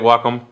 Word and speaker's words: Wacom: yeah I think that's how they say it Wacom wack yeah like wac Wacom thinking the wac